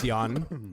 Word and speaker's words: Jan: So my name's Jan. Jan. It's spelled like January, Jan.